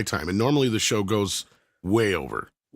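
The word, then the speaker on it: gauche: Go is spelled g a u c h e and it's how I say it.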